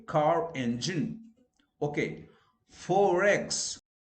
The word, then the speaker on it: forex: Forex. Forex. So you tend to pronounce R. Okay. Why? Because it's followed by E, vowel sound. So like forex, you know, forex money, foreign exchange money, forex. There you pronounce R. Why? Because forex R is followed by E sound, which is a vowel sound.